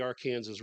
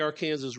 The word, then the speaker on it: Arkansas: And I call it the Arkansas River because I think that's the correct name. And it's only pronounced that way generally in Kansas, however. It's mostly pronounced the Arkansas River. And in fact, by state legislative mandate in Arkansas, that's how you're supposed to pronounce it.